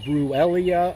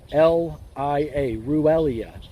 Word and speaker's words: Ruellia: Technically it's called Ruellia. I'll spell that out for you. R as in really, Stephen. U-E-L-L-I-A. Ruellia.